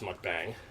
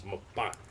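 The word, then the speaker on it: 먹방: And John let me know that the word for food broadcast in Korean is not pronounced mukbang. It is mukbang.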